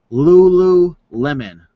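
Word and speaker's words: Lululemon: on how to pronounce this brand so it's pronounced Lulu Lemon girls love the yoga pants all right so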